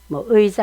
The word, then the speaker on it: 의: 뭐 여러분들도 아실 거예요 어떤 때는 의 가 되고 어떤 때는 에로 발음하고 소유격 인 의 대신해야 사용할 때 내로 되고 단어의 마지막 의 가 될 때는 e 로 되죠 예를 들면 회의 시간이